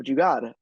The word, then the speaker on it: Jugaad: And it's spelled, usually it's written with a D because transliteration is terrible, even though you typically pronounce it, at least sort of in my community, with an R on the end, Jugaad.